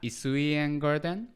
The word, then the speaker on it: Isuien Garden: And how do you pronounce that? Isuien Garden.